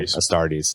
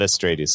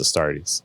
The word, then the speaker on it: Astartes: I always say it wrong. Astartes, not Astrades, Astartes.